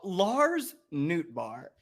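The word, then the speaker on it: Lars Nootbaar: and he's the greatest name in human history Lars Newt bar is that how you say it right it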